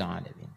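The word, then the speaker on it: العالمين: Contoh, Ustadz, tapi kan sekarang sudah ada harokatnya, belum tentu bisa sempurna bacanya. 2. Misal, Alhamdulillahi Rabbil. Ini saya begini, please. Rabbil Alamin.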